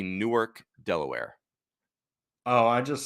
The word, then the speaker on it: Newark: that had be confused that's what Noah needed nework Newark that's right I like it very good so